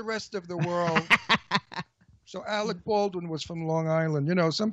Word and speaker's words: Alec Baldwin: Yeah, but he worked with Alex Baldwin. Oh, Ron doesn't like Alex Baldwin. Alec Baldwin. Today I'm not working anyway. I give a shit about him. I'm deliberately pronouncing his name incorrectly.